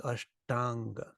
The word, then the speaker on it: Ashtanga: the word ashta and we took the word unga and we say them back to back without stopping becomes Ashtanga the A's merged together and become long it means eight it